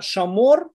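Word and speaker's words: שָׁמוֹר: Видите, мы здесь видим, как она используется, эта буква, она читается здесь и как «о», и как «в», да, «шамор», она как «о» читается, «везахор», и как «в» она читается, да, это просто как пример использования этой буквы.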